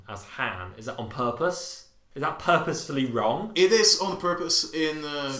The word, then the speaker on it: Han: Isn't there Bigger Han as well?